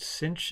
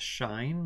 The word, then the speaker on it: sinh: hyperbolic sign is pronounced cinch in the US I've heard that in Europe or the UK it's pronounced shine like the movie it s the H